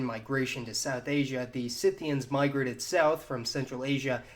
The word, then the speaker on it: Scythian: of which were the scythians oh wait scythians so you're telling me that despite being spelled almost identically to the english word scythe it's pronounced scythian like a sith lord i swear the english